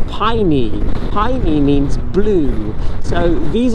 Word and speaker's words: Paine: I thought it was pronounced Paine for like the whole time, but actually I read last night that it's actually from the native Tehelque language and it's pronounced Paine.